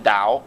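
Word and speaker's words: Tao: the dial of Twitter that's the official pronunciation Dow ta o in Tennessee we call it the towel of Twitter you can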